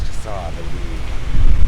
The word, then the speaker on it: Jahseh: I've read that it's pronounced Jahseh and Jahseh, but it's Jahseh, the pronunciation.